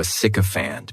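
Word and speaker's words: sycophant: And this noun has three syllables. And the stress is on that first syllable.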